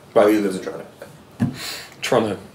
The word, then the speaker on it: Toronto: Toronto. I've got my pronunciation. Yeah, it's spelled no second T ever. T-R-O-N-N-O.